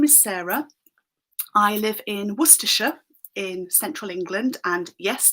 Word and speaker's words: Worcestershire: I live in Worcestershire in central England, and yes, that is how you pronounce the source.